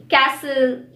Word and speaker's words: castle: Usually anything ending in S-T-N has a silent T. For example, listen, moisten. Also, the words ending in S-T-L-E are likely to have a silent T in them. For example, hustle, whistle, castle.